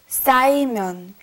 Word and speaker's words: 쌓이면: Be careful with the 싸. 쌓이면.